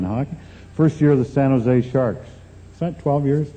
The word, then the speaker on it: San Jose: You don't pronounce a J. It's San Jose."